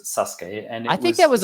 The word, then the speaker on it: Sasuke: it started in Japan as a thing called Sasuke not spelled like that but it's Sasuke and I think that was on I think